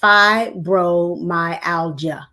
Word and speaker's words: fibromyalgia: in the chat that was phonetic for me. It says fibromyalgia. Okay, I'm gonna Mhm. keep that where I can see it. Thank you, Miss Elois. She put it in the chat for me phonetically so that I can stop messing up over it.